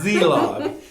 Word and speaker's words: Szelog: I just love saying your last name, Szelog. And I've learned how to say it because the S is silent, right?